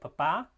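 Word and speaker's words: papá: loudness and Pitch so you have a word like Papa which means dad however if you were to stress the first syllable of those segments that those syllables you'd have Papa which means potato or pop um and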